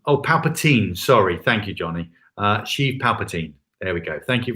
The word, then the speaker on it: Sheev Palpatine: The Star Wars villain Darth Sidious is called, let me see if I get his pronunciation right, Sheev Palpatine. Sheev Palpatine. Have I pronounced that correctly? Johnny and others will correct me if I haven't. But I think it's Sheev Palpatine.